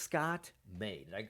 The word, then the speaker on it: Scott May: Scott May. Did I pronounce that correctly? Yes, you did. Just like the month, my friend.